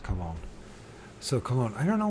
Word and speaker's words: Cologne: sorry these words uh got more than two syllables in it I just stumble kog colone cologne of course it's cologne so cologne I don't know why it has